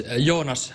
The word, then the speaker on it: Jonas: tell me how you say it so it's yonas very good very good which is something